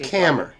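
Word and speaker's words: Kammer: how do you spell your last name uh camera k-a-m-m-e-r k-e-m-m-e-r right it is pronounced camera did you get my name right camera i am a scammer correct yes you are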